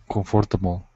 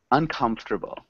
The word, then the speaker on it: uncomfortable: I think the pronunciation is comfortable. Not quite. Uncomfortable. Okay, uncomfortable. Not quite. So we don't really pronounce that fort.